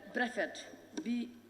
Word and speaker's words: Brefet: Berefet is not properly spelled. It's spelled Berefet. Berefet is Brefet. B-R-E-F-E-T, not B-E.